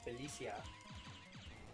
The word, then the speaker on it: Felicia: Then there's the Spanish version, which is Felicia. But that's how you actually pronounce it.